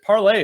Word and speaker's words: Parler: They're like, it's actually Parler. It's it's Parlay. It's a French term. And it's like, what? Like you're appealing to boomer conservatives, and you used a French term that's pronounced not in the way that it's seen in the English language.